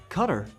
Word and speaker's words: Qatar: The irony of it all cutter is actually closer to the official pronunciation.